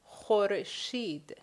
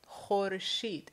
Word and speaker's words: khorshid: We have the word khorshid, khorshid. Khorshid is the sun. Now, the first sound, kh, does not exist in English.